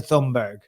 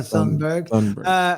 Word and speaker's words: Thunberg: Thunberg. Greta Thunberg.